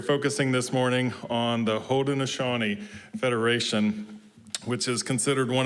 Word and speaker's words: Haudenosaunee: We are looking in this beautiful month of Native American heritage We are focusing this morning on the Haudenosaunee Federation, which is considered one of the oldest forms of democracy in humanity.